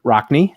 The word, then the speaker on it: Rockne: Notre Dame rivalry began in 1926 when new rockney did I pronounce that correct Ryan you got it all